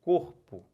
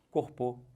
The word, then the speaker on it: corpo: oxítona olhem para cá paroxítona quando a penúltima é tônica olha o exemplo corpo né quem é sílaba forte então última penúltima penúltima é forte tá com dúvida Faz aquela teste que eu botei né Bota um assento aqui para ver circunflexo ali fala isso corpo tá com corpô dolorido não